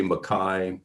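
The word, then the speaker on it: MacKay: edited by uh uh robert b makai it's spelled like mccain um and he was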